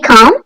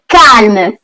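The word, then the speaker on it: calme: কখন কাল মানে শান্ত এটা আমরা ইংলিশে যখন বলি তখন বলি কাম অ্যালটা সাইলেন্ট হয় কিন্তু ফ্রেঞ্চে আমরা অ্যালটা প্রোনাউন্স করি সো এটা কাম হবে না এটা হবে কার্ম কার্ম মানে শান্ত কালমেতু কার্মেতু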